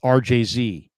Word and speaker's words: Argisi: My last name is pronounced RJZ.